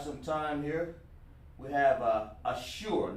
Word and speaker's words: Ashur: This is how it's pronounced. Ashur.